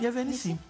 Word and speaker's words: Yavé Nissi: É assim que se pronuncia também? Yavé Nissi, isso mesmo.